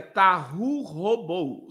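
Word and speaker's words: תהו ובהו: No hebraico, sem forma e vazia, tahu robou.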